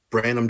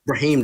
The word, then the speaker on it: Brahim: I think that's Brandon Draws. I guess I got that right, maybe. At Brahim Draws. Brahim Draws. Okay, there we go.